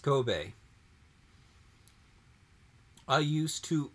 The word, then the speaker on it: Kobe: Kobe is a city in Japan. I lived there. Pronounced Kobe.